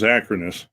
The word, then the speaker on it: Acronis: And I have businesses that use QuickBooks, and I'm finding out that when you clone, and I use Acronis or Acronis, however you want to pronounce it, every time I clone, it breaks the license for QuickBooks.